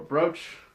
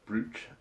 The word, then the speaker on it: brooch: sort of clasp or brooch or something. It's not pronounced brooch, by the way.